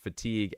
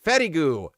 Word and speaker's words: fatigue: Uh, my father my daughter pronounced fatigue as fatty goo.